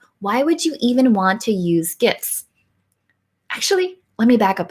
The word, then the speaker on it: GIF: And we have Mike Alton who says it's GIF with a hard G.